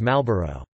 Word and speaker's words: Marlboro: The only exception to this rule is the word Marlboro, which is frequently read as Malboro.